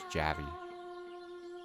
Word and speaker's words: Javi: Javi. What? My name. It's not little man. It's Javi.